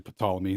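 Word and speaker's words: Ptolemy: for those of you who think it's pronounced tmy it's actually pamy there's a p in there I don't know if you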